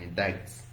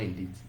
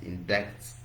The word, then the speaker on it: indict: No, it's not indeed. It is indicts. So this I here is pronounced as I, bright, indict, bright.